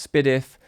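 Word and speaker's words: S/PDIF: output on your interface, something like SPDF, otherwise pronounced SPIFF or tosslink or AES or ADAT.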